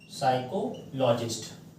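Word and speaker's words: psychologist: और एक शब्द है साइको लॉजिस्ट तो जो साइकैटरिस्ट शब्द है और साइकोलॉजिस्ट शब्द है इसमें पी है ये साइलेंट है तो यह स्पेशलिस्ट में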